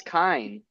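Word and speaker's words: Kiin: Well, if it's Telrai, then it's So anyway, Keaton. so Telrai is like Well, That's how I pronounced Keaton. Keaton at first. Well, I thought no, it was. Keaton. but It's Sanderson Keaton. said it's Kine.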